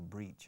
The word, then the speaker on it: breach: To break, no se dice romper un contrato, se dice breach, escrito breach, como reach, como alcanzar. Le pones una B delante, tienes breach.